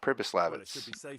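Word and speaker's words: Přibyslavice: plans to basically rebuild the entire city of purpose Labatt's that's how you pronounce it so yeah so first you want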